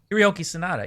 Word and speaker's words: Hiroyuki Sanada: Hiroyuki Sanada.